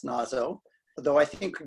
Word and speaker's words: Naso: I assume it's pronounced Nazo, although I think WS Gilbert rhymes it with say so in one of his lyrics in Ireolan.